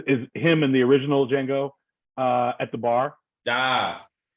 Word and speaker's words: Django: him in the original Django uh at the bar ah that's the jingle with a d yeah I know right and two of them at the bar the g is silent the g is silent